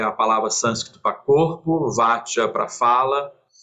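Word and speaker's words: vācā: Algumas pessoas falam vaca, tanto faz, nada contra, mas eu prefiro Vacca porque eu acho que é a sílaba C em sânscrito tem mais um som de Cha, como Citta, do que de C, mas isso é puro preciosismo meu.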